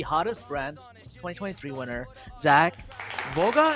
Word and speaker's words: Vouga: Brands 2023 winner, Zach Vouga. Am I saying it right? Vouga? you hit it right on the head, and Yeah.